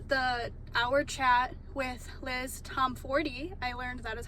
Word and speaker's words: Tomforde: There was a lot of waiting in the beginning, but the hour chat with Liz Tomforde, I learned that is how you say her name, Liz Tomforde and Melanie Harlow, was so fun.